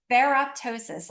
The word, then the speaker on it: ferroptosis: you just say it perosis in fact I'll spell it because it's such a new word for all of us right so ferroptosis ferroptosis yeah f e r r o p